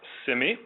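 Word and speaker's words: CIMI: on or better know clinical information modeling initiative pronounced Simi by Dennis joyus who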